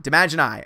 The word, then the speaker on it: Demogeny: Demogeny says it's pronounced D-ma-gin-I. Demagini.